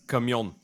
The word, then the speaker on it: camion: It means truck. And the word is camion.